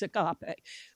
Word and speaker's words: agape: The Greek word for that in this passage is agape, or you may hear it pronounced agape.